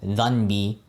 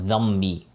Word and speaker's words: dhambi: Because sometimes, when you don't notice, what you realize is you're pronouncing something like, for example, dhanbi instead of dhambi, right? So that noon changes to a meme, right?